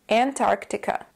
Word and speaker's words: Antarctica: have to do is you have to kind of break it down when you say it you can start with the first syllable which is an the second syllable is Arc keep in mind that for this word the stress is on the second syllable put it all together and you get Antarctica Antarctica say it with me